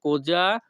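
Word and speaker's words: cosa: ভাষা হবে কোজা ইনান্দি এখানে কোজা বানানের উচ্চারণ হবে সি ও এস এ যা এস এ এর উচ্চারণ হবে যা কোজা ইতালিয়ান ভাষা কোজা ইনান্দি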